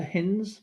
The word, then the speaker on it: Hines: His name is Dr. Hinz, but it's spelt Hines.